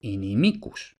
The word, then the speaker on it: inimicus: sílaba y como esa i en la penúltima sílaba es larga, lleva el acento y por tanto inimicus.